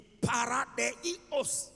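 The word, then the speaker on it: παράδεισος: Neno au maneno ya kiyunani ambayo yanasimama badala ya neno peponi ni neno paradiso ni kutamkia vile linavyotamkwa kwa kiyunani ni paradeos ah ngoja nitaje kwa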